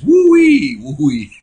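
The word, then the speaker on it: Huawei: Bernie, the Chinese pronounce your older phone name as Wooey Wooey. I guess I pronounce the H as Hi-Ooey.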